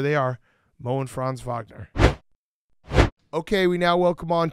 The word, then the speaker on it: Wagner: your last name correctly is it a v should I do the v no if you say it American like that you said it right okay but did I sound like a poser where people like you clearly he's American he just tried to go the Vagner no that's that's the right way to say okay all right good